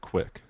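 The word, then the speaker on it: Qik: so this app's called Skype quick or kick I don't know how I would say it in the application description it says to pronounce it quick okay so I was right quick um it it's basically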